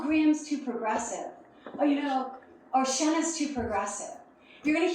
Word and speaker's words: Shenna: And I didn't say, nope, it's Shenna, it rhymes with Jenna.